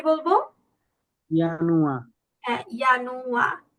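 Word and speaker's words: Januar: ইয়ানুয়া। হ্যাঁ, ইয়ানুয়া। ইয়ানুয়া কেন হয়েছে বুঝতে পেরেছেন না? ইয়োট আছে, তাই না?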